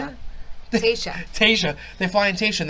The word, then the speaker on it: Tayshia: They fucking fly in Taisha. That's not her name. Taisha. How do you say it? Tayshia.